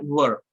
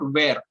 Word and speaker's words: were: now try to understand it is not where most of the people make this mistake they always say it is boss where no guys it is completely wrong the pronunciation is were they were playing cricket